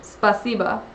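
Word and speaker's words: спасибо: Like spasibo is how it's spelled, but it's pronounced spasiba for thank you.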